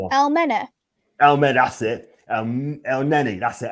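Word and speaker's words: Elneny: El Neni, that's it. El Neni, right?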